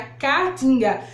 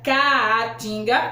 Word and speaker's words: caatinga: nordeste que é a catinga não confunda caatinga olha o nome dela aqui ó caatinga tem duas letras e a aqui ó no início da primeira sílaba tá vendo caatinga não confundas certo